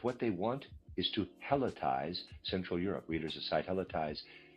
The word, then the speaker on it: helotize: Let them say that what they want is to helotize Central Europe. Readers aside, helletize is spelled H E L O T I Z E.